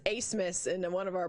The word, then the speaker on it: Abmas: So what I've been told is it's German, and the B is silent. It's just Asmus. It's not Amos, is it?